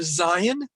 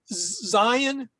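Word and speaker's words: זַיִן: We're working on the letter Zion, which also is related to the word for weapon, in case you're interested. The Zion always has the same sound as the letter Z or the letter Z, whichever one you prefer.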